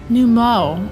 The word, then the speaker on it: Nu Mou: Those Numo were rather frightening. I'm glad you're safe. Num Mo.